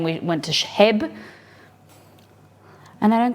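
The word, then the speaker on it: H-E-B: don't you pronounce it HEB it's h. e dob and the Americans say he EB they don't call it Hebb so exed I were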